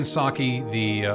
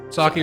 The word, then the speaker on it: Psaki: Jen Psaki, or Psaki, I don't know if the P is silent or not.